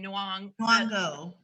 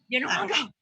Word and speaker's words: Nyong'o: Oh my God, I was watching, it was a Super Soul Sunday with Oprah recently, and Lupita, how do you pronounce her last name? Nyong'o. Nyong'o.